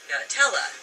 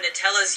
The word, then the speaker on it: Nutella: But there has clearly been some major controversy in how to pronounce Nutella. On Nutella's US frequently asked question page, it's pronounced Nutella. That has driven people nearly mad, not to mention the ironic arguments that have ensued. However, in other parts of the world, the spread is called Nutella.